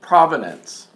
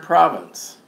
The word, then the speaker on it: province: be stumbling over and calling it provenance and there's no deal and the word province and it really annoys it's really annoying I don't know to the point where it's like I shouldn't be annoying me that much when somebody mispronounces something but it's so blatantly so blatantly wrong province of stuff here are all VI NCE there is no D in it so it comes up